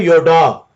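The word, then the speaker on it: ידע: इसकी प्रोनाउंसिएशन क्या है? योडा।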